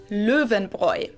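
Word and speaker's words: Löwenbräu: mentioned out of context the correct german pronunciation is le venbroi oh my god oh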